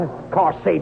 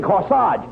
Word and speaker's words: corsage: no no i'm not of course sage you mean no no no you mean corsage age is pronounced arch as in corsage and garage where did you get